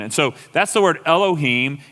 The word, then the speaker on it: Elohim: And so Elohim, you actually literally leave that silent. You don't pronounce it. It's Elohim.